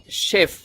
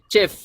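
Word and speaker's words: chef: শেফ বলবো না বা দেখতে মনে হচ্ছে চেফ চেফের মত মনে হয় কিন্তু চেফ হবে না এটার উচ্চারণ হবে শেফ শেফ মিন শেফ এরকম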